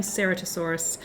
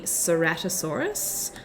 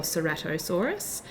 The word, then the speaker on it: Ceratosaurus: how to say it because i was saying serotosaurus and then i thought that doesn't sound right so it's pronounced correctly ceratosaurus or serratosaurus it is a large dinosaur carnivore um and